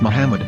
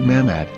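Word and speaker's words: מחמד: ben yehuda's hebrew english dictionary it is correctly pronounced as muhammad not mahmod so how we're going to know for sure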